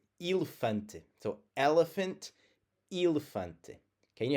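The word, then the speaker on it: elefante: When you have it as the first letter, the as the e in the first syllable, it's going to sound like the e in eel. Elephante.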